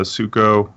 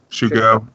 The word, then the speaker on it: Shuko: With the either Vile can Vile in the Illusionist, Stoneforge can get the Suko, or is that how you pronounce it? Suko? Yeah, Shuko.